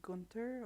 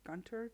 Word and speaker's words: Gunther: Just in case you're wondering why you can go meet up with Gunther or Gunter, depending on how you say it, in this screenshot.